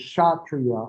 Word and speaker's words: Kshatriya: The next caste is Kshatriya, and I'll spell that for you because that is a silent K. And that is K-S-H-A-T-R-I-Y-A-S.